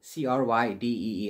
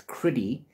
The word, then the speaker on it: Crydee: So I would have pronounced Crydee, C-R-Y-D-E-E, as Crydee. He pronounces it as Criddy.